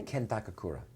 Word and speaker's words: Ken Takakura: Was it difficult acting opposite Takakura? Am I saying it right? Yeah, Ken Takakura.